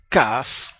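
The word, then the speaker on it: כּ: La CAF con punto dentro, vamos a escribir el punto, se pronuncia CAF, como K, obviamente.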